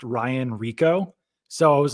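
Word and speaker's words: Rehkow: The Bengals punter, by the way, I guess his name is pronounced Ryan Rico.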